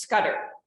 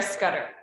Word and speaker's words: Scudder: And I will correct, my last name is actually pronounced Scudder. So it's Scudder. But that is okay. A lot of people don't get the double D, so just wanted to correct it.